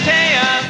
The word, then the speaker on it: Taya: Her name is Taya. There you go. It rhymes with Princess Leia, can't you see? Though it's spelled that way, don't pronounce it T.